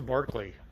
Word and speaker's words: Berkeley: It's a Berkeley, and I'm learning to say that and get my mind wrapped around that that is the correct pronunciation of this car.